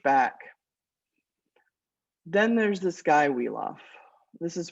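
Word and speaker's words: Wiglaf: of like pushed back then there's this guy weof this is pronounced weof by the way um I know when you look at it it looks like wigl you can say it like that but weaf is proper so um he's one of the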